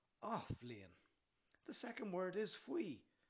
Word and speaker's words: Athbhliain: The first word is Athbhliain, pronounced "ah" and "vleen" - "ah-vleen" The second word is